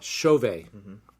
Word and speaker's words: Chauvet: me and Chauvet it's a French name it's a Haitian origin a French origin Haitian name Chauvet it's not Tibet it's not Chauvet it's not Corvette that's not Nene it's Chauvet is pronounced like